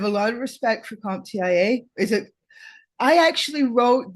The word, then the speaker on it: CompTIA: in my 20s and I pursued my first comp Tia search I've always pronounced it comp Tia but I've also heard